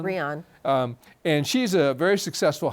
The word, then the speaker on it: Brianne: with a woman named Audrey, and is she pronounce it Brian? Brian.